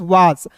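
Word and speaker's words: was: एस का उच्चारण यहां पे ज के रूप में करेंगे। तो देखिए डब्ल्यू ए एस वाज और एस का उच्चारण हम लोग दोस्तों ज के रूप में भी करते हैं।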